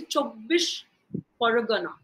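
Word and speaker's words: Chobbis Pargana: In south, we would pronounce that as 24 Paraganas. But that's not how they say it. They say Chobbis Paragana.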